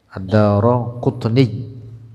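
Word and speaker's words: الدارقطني: Bacanya Ad-Daraqutni. Kalau di teks Arabnya Ad-Daraqutni yang mu'rab belakangnya itu Al-Qutniyyu atau Al-Qutniyyi, Al-Qutniyya. Ad-daranya mabni, bacanya dengan ro.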